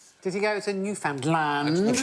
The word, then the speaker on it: Newfoundland: One thought it was new found land and one thought it was newfound land.